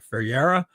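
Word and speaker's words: Ferreyra: I think I'm supposed to pronounce his name like Ferreira.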